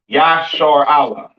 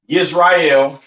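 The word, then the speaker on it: ישראל: This is how you pronounce Israel in the ancient Hebrew. Yah, Yashar Allah. All right. Not Yisrael, not Yasharal, and a lot of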